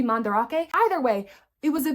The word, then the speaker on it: Mandarake: It's spelled the same as Mandrake, so we called it Mandrake, but I think it's supposed to be Mandarake.